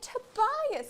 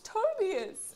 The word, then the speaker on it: Tobias: And she's like, I cannot believe that they pronounced his name Tobias. It's Tobias.